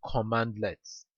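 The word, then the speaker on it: cmdlets: uh this CMD lets by the way is pronounced command lets an example of command lets include get help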